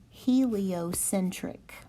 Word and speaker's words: heliocentric: one to pronounce so let me go ahead and give you the sound spelling for this one it is he li o sinned tricked heliocentric heliocentric heliocentric this is